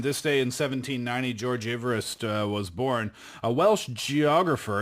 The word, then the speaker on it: Everest: So apparently it's Everest. Uh-huh. Eve, Adam and Eve 할 때 Eve rest. Right, so it's George Everest.